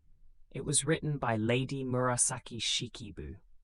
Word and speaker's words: Murasaki Shikibu: It was written by Lady Murasaki Shikibu, pronounced Murasaki Buu around the year 1000.